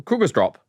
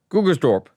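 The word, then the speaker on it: Krugersdorp: So, it be uh Krueger's Drop. Kruger's Dorp.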